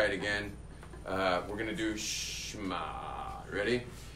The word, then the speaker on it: Shema: And by the way, the ayin's guttural. So you have to be like Yemenite to do it right. Only the Yemenites know it, like real pronunciation of Hebrew.